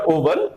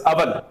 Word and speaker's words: oven: This is not oven, this is oven.